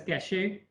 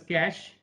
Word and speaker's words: cache: call it cache memory please do not pronounce this as cachet this is known as cash and cash means storage